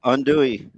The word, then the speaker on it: andouille: Andouille. Andouille.